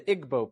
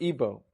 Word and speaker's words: Igbo: Another area in Africa, you have uh something big happening is in Nigeria, you have the Igbo people or Ibo, pronounced either way.